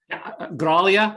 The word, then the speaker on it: Graglia: It is Graglia, right? Graglia, it is.